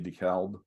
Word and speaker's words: DeKalb: Some people would pronounce it DeKalb, like the corn variety DeKalb.